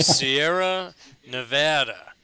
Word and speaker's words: Sierra Nevada: And Scott, how do we pronounce the name of your brewery? Well, that's pretty simple. It's just Sierra Nevada. Although you will hear people say Nevada, but my own personal opinion is that you would say Nevada.